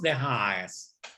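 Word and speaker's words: Den Haag: ¿Y saben cómo se dice en holandés? De Haas.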